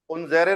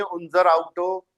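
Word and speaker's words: unser Auto: उनजेरे नहीं है, उनजर आउटो। थोड़ा प्रोनाउंसिएशन में काम करना पड़ेगा तेरे को हिमांशु।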